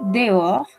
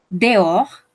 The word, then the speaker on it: dehors: De hecho, esta palabrita dehors, dehors, no pronunciamos la S, dehors, también nos sirve para expresar que estamos fuera del país.